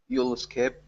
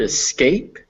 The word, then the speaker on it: escape: And on the word escape, make sure it's the real A sound. Escape. Escape, Mhm. escape, Escape. escape. Okay. Remember that the emphasis is on scape.